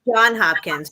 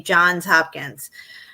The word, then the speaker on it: Johns Hopkins: I always thought it was John Hopkins, but I hear everybody pronouncing it like when I hear people in, say, a documentary or something, they say Johns Hopkins.